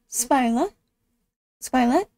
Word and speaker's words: speilet: I don't know if you really pronounce the T or not. Bildet henger ved siden av. You don't really pronounce it the at the end of it.